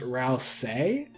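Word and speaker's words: Ralsei: Ral say or Rai I believe it's pronounced Ral say uh I'm supposed to hearing the latter but the spelling just seems off-putting help me out here I'm pretty sure toas confirmed that's pronounced Ral say but yeah so I'm pretty sure that's the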